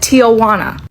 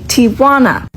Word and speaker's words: Tijuana: So now I say Tijuana cuz apparently in my comments that's how you're supposed to say it.